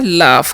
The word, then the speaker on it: laugh: लिखा हुआ है LAUGH, तो एल का LAUGH है, जैसे हम पढ़ते हैं लाफ, क्या पढ़ते हैं लाफ, लाफ मतलब क्या होता है, हंसना होता है, ठीक है।